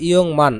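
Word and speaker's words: 육만: এর উচ্চারণ হবে ইয়ং মান, আর গিয়কের উচ্চারণ হবে অং। ইয়ং মান ওয়ানি, অর্থাৎ 60,000 ওয়ান।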